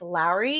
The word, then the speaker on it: Lauri: It's not Laurie, it's Lowry.